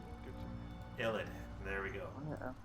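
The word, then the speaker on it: Yled: prestigious necromancy School in uh yit all yed uh I think that's how it's pronounced it's y l e d ID sounds good to illid there we go y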